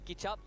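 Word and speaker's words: kicap: to try the nasam kchup it's not K it's kchup kchup means soy sauce it's like chicken adobo no it's not ketchup kup not ketchup kchup it's like chicken adobo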